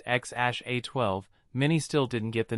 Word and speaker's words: X Æ A-12: Frenzy online even though musk and Grimes said it was pronounced xash a12 many still didn't get